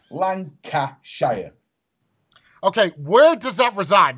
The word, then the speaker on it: Lancashire: Right, there's three syllables. Lancashire.